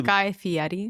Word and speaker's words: Guy Fieri: Guy Fieri. Guy Fieri. I love that you actually did the proper pronunciation.